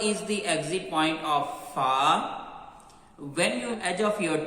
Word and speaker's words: ف: And also be careful, don't read with heavy sound like Fa. Don't do round your lips. Okay, this Fa sound is light.